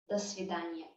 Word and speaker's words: свидания: Notice also that in the writing, in the spelling, we have свидания, but in speech it becomes свидания. Again, to make it a bit easier to pronounce, до свидания. Instead of ния, I would usually say ния. До свидания.